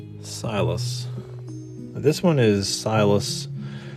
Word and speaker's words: Silas: Now this one is Silas spelled with a C-Y-L-A-S. And that gives us an opportunity to actually showcase Silas has a soft C at the beginning here.